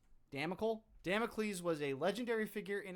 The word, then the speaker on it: Damocles: Uh how do you pronounce that? Damicles. Dam. Damocles was a legendary figure in ancient Greek mythology known for his role in the story of the sword of Damocles.